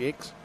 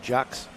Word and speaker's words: Jakes: Jakes all right okay that's the pronunciation George X not Jax okay it's spelled the